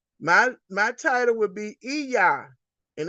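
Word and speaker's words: Iya: Nana or gon my my title would be eah and it's it's pronounced e e y a h but it's it's spelled I Y A it's eah which means mother or grandmother in the urable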